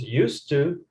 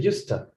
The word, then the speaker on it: used to: i think so yes you shorten the expression and you can pronounce used to or you can say usta do you remember that use time just like got to gotta okay that's what it